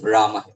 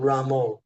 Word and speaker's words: Rama: Maharaj, last visit, you taught me this proper pronunciation of Rama. And I tried to practice. Instead of Ramo, right?